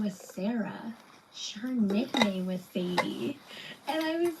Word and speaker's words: Sadye: so that is so funny because my oldest daughter, her name is Sadie. It's spelled Sadye though, and her dad was like, "Oh, that's my grandma was Sadie."